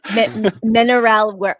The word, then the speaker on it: Mineralenwereld: That's how you pronounce it. Mineralwereld.